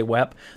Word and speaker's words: WEP: WEP, or wired equivalent privacy, and it's pronounced WEP, and that's what you'll, in industry, you'll hear somebody say WEP.